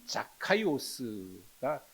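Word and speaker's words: Ζακχαῖος: 나무에 올라갔다라고 기록했습니다 사실이 삭개오라고 하는이 이름은 헬라어로 얘기하면 자카이오스가 원래 발음입니다 근데이 말의 뜻은 순결한 사람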